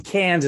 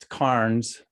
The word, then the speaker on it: Cairns: to to Cairns Australia I mean Kansas is the way Americans say it or Carnes if you're from Australia well that was where